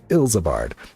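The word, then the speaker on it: Ilsabard: It's pronounced Ilzabard to heal.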